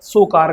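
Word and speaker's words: Tso Kar: सोकार घाटी। अब आप त सो तो नहीं बोल सकते इसको। तो त साइलेंट हो जाता है इसलिए हम क्या बोलेंगे? सोकर घाटी।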